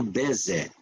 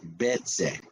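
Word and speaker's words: בצר: Hoje correremos para Bezé, aliás, Betzé, que é o pronúncio em hebraico.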